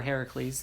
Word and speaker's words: Heracles: the strength of her hercules or heracles it's pronounced both ways i believe um forget